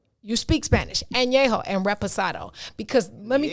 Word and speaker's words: añejo: But you have to drink añejo and reposado.